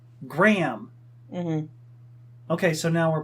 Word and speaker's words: Graham: he just said it he said Graham he says gray him yeah I know there's an H in there let's be on our way but he said Graham mm-hmm okay so now